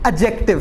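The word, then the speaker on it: adjective: ये एडजेक्टिव नहीं है, एडजेक्टिव है। क्या नाम है? एडजेक्टिव। मैंने एड नहीं बोला, डी इसमें साइलेंट है।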